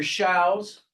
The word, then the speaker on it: Shows: My name is Dr. Shows, pronounced like cows.